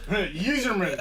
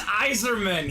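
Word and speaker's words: Yzerman: Am I right, Robbie, how did Colin pronounce him? Userman. It's Eiserman.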